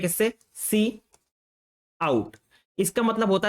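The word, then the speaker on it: cout: सी आउट का इस्तेमाल किया इसको हम लोग प्रोनाउंस करते हैं किससे सी आउट इसका मतलब होता है हमारा जो इनपुट होता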